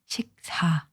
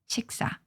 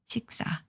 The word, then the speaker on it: 식사: Don't forget, the pronunciation of this is not 식사, it's 식사, 식사. There's a strength here, okay, because of the 받침 here.